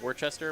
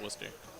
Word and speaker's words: Worcester: Is it really said like that? Worcester, yeah. Oh, wow. Like, it looks like Worcester or whatever. Yeah. It's pronounced Worcester.